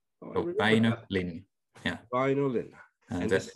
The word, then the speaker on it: Väinö Linna: How do you pronounce the author's name? Yeah. Väinö Linna. Väinö Linna.